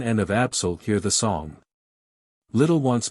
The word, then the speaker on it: Absal: The accented vowels are to be pronounced long, as in Italian, Salaman, Absal, Shiren, etc.